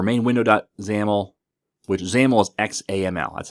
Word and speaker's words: XAML: Then we have app.xaml window or main window.xaml, which XAML is XAML. That's how you pronounce XAML.